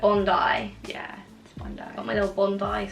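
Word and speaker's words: Bondi: we've spoken so what tell everyone what you thought it was before fondy Beach Bundy but I know it's not what is it on die yeah got my little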